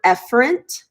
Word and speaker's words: efferent: like to say so you pronounce this word efferent but I like to say e Ferentz I like to mispronounce it on purpose because E for exits